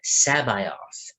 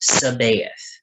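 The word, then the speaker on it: C'baoth: Mark Thompson has too for example the character joris sabeth not sabayoth it's sabath now I may I don't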